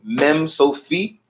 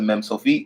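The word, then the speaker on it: מם סופית: If you see that little box with the hook, that's a Mem Sofit. You still pronounce it like Mem.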